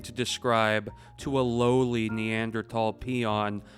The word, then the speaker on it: Neanderthal: This is difficult to describe in the same way that when you're speaking to a Neanderl and that's actually the way you pronounce the word. It's not Neanderthal even though it's spelled with a T something today.